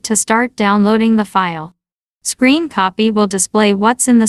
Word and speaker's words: scrcpy: the following first is scrcp pronounced as screen copy next is Bluetooth audio